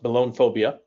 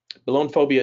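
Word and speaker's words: belonephobia: the by the way uh the fear it's pronounced balloon phobia balloon phobia is the fear of needles okay let's say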